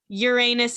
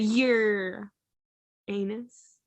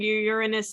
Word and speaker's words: Uranus: Gemini Saturn and Taurus Uranus and Aquarius and Pluto and Sagittarius no I didn't do the emphasis you did I didn't do an emphasis I said it right you said you're anus we'll play back the